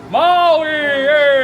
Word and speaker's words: Maui: It's not there in the name of the island, Maui, right?